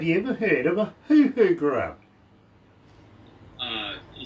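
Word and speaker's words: huhu: lifted but have you ever heard of a who who grew up uh you said it one more time who grew up it's spelled h-u-h-u grew up okay you're familiar with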